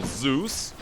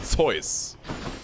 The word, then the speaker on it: Zeus: Like Zeus, for example, we don't call Zeus, we call him Zeus. This is how we pronounce it.